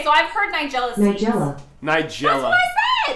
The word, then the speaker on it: Nigella: look it up so the pronunciation is niga n i was close Nigel Nigella n n AI J e h nigela hold on we're going